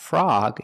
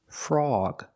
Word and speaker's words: frog: The o is before the g, so it's not frog, it's frawg, frawg.